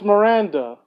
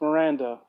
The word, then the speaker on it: Miranda: Maria well reamed up no it's Miranda its mi RA and DA it's Miranda like I'm fairly certain